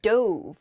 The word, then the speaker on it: dove: often represents peace and it can also uh be pronounced Dove which is the past tense of the verb to dive uh so you might